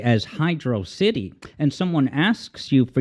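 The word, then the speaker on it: Hydrocity: upstanding guy he just flat out says it's pronounced Hydro City and that's the last word on it and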